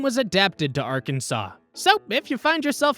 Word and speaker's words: Arkansas: way they decided is Arkansas with three syllables a silent final s and accents on the first and last syllables mispronouncing it as R Kansas was labeled an innovation